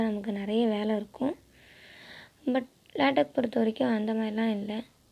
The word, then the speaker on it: LaTeX: லேட்டெக் அப்படிங்கிற வேர்ட் லேட்டெக் அப்படின்னா ப்ரொனவுன்ஸ் பண்ணலாம், லேட்டெக்ஸ் அப்படின்னா ப்ரொனவுன்ஸ் பண்ணக்கூடாது. You just say லேட்டெக் ஆர் லேட்டெக்.